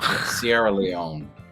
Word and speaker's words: Sierra Leone: Sierra Leone. That's how to pronounce it.